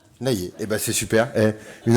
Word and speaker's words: Laylier: Poulailler, tu enlèves le pou, ça fait lailler. Laylier, eh ben c'est super.